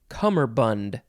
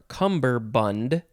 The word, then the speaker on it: cummerbund: that is a distinction next is cummerbund or cumberbund it is spelled c-u-m-m-e-r-b-u-n-d cummerbund uh you can also put a b instead of the second m which is why it can also be cumberbund noun from 1616 it